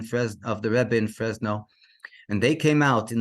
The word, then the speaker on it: Fresno: area of the city of uh frenzo if I pronounced it correctly I think so Fresno excuse me of course I didn't now it got mixed up Fresno in the northern California